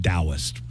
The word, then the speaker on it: Taoist: Yeah, believe it or not, it starts with a T, but But- it's pronounced Taoist.